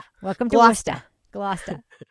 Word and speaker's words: Gloucester: Glousta.